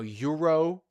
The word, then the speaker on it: euro: like uh you know euro. So do you have a euro even though it is spelled with an e which is a vowel but in pronunciation you have the y sound which is a consonant.